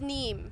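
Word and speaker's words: Niamh: United States, I apologize for the pronunciation, Niam? I believe it's Neem.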